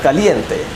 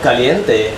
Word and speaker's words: caliente: You know, caliente has an I sound, whereas calorie has what's known as a schwa.